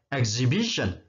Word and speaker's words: exhibition: 648 alat-alat atau peralatan exhibition Jadi bukan XV Bison pameran harus hold rumah